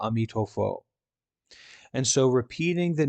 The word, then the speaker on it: Amitofo: west is very important chinese people pronounce amitabha amitofo and so repeating the